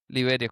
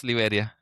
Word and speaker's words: Liberia: Is it Liberia? Liveria, correct? Okay. Well, well, it's just the accent. Don't worry about it. It's Liveria. So looking forward to being